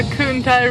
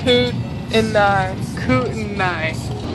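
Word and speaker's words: Kootenai: time besides me it's the kuntai river that's not how you say it's coot in the night looking forward to turner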